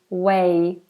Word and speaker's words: weigh: how pronounce that way way it's like a y ending instead of a g way way no way you weigh your food no way exact same pronunciation as w a y way great so let me